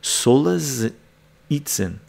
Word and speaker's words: Solzhenitsyn: Solzhenitsyn.